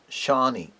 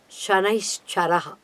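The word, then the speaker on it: शनैश्चरः: Shani. There is no Shani in the astrological chart at all. The correct name given to Saturn is Shanaishcharaha.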